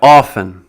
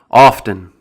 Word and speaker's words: often: Often. There's no problem with that. It's just kind of an old, ancient way of pronouncing the word. It's more commonly pronounced with the silent T.